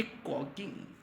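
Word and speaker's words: caulking: वो क्या है य कोकिंग क्या कहलाता है कोकिंग क्या कहलाता है दोस्तों कॉकिंग टूल ठीक है एल य पर साइलेंट है कॉकिंग टूल यह कहलाता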